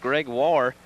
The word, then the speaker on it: Gregoire: calling their goalie jeremy gregoire possibly we heard this rumor floating around before the game started his last name pronounced greg war but in games when